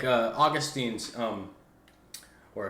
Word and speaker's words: Augustine: there's some like uh Augustine's um or Augustine I don't know how to say it I'm not Catholics say Augustine okay um at least